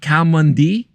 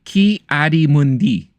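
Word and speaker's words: Ki-Adi-Mundi: Cal Mundi is in the little console room, right?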